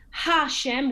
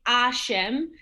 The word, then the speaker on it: Hashem: we look at today hashem we don't say a shem and it's not like the french where the h is not pronounced at all um